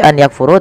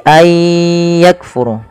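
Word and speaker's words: أَنْ يَكْفُرُ: Maka ayya, cara membacanya bukan lagi an yakfuru, tapi ayyakfuru.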